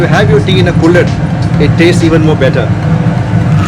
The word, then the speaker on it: kulhad: This is what is known as the Kullad. It's spelled Kulhad, and it's made of, it's an earthen pot, and the best thing is it's biodegradable.